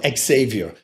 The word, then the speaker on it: Xavier: And one of the girls was dating the coolest guy in town, Xavier, that's how you pronounce it in Holland.